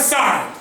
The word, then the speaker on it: sour: Sour. हाँ, इट is Sawar in test. Sawar actually नहीं होता है, सार. ठीक है? Yes sir. हाँ, सावर हम लोग प्रोनाउंस करते हैं. इट इज सार इन टेस्ट.